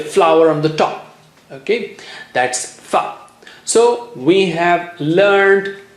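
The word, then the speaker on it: ث: How do you say Tha? If this is your top teeth, okay, the upper teeth, this is your upper teeth, and the tongue tip is just a millimeter out, just touch the upper teeth and blow air.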